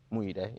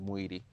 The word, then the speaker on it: Muidi: Muide. You know, that's the Nigerian way of saying it, but I give it to Americans, Muidi.